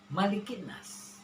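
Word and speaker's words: مَلِكِ النَّاسِ: Kembali Abi bertanya kepada kita, apakah membacanya Malikin nas atau Malikin nas? Ya, benar. Netizen luar biasa bahwa Ma-nya tidak panjang. Malikin nas.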